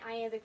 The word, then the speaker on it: iamb: But this is written in iambic pentameter, which means it uses iambs. One iamb, the B is silent, is unstressed, stressed.